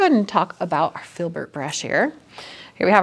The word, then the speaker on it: Filbert: is it Filbert spelled with an F? F, yeah. Oh, F-I-L-B-E-R-T, literally Filbert. it's Phil. You were thinking like Phil? Yeah, like okay, Philip.